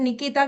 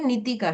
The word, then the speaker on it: नितिका: First of all pronounce भी लोग गलत करते हैं। निकिता कहते हैं पर यह निकिता नहीं नितिका है।